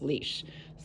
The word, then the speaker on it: lease: as you can see i have leash sticks or lease sticks l-e-a-s-e i've always heard them pronounce leash so once again i